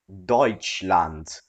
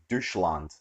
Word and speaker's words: Deutschland: Deutschland iki a Germany it's pronounced like Deutschland but Derek insisted I was pronounced like douche land I can understand f-14